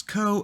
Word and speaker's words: curl: seems to be returning curl at this point let's try number higher than one so 1.5 go the co command is typically pronounced curl curl again the phrase C URL is incorrect okay interesting the co command